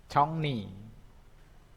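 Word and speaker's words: 종로: Congri ya, bacanya jadinya congni. Congni bacanya ya, congni.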